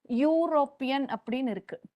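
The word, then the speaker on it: European: on the S sound europan pronounce when you pronounce what is the sound that you get you you this is not your sound even in in spite of the fact that it begins with the Vel letter e so we will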